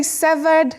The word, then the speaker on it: severed: amiba amiba so do we say severed severed severed what is that like to cut something oh when you cut links now the first thing I want to share with those who love good pronunciations this word is not related at all with the adjective which is severe severe and this word are not related so don't say severed and don't say SED SED is very common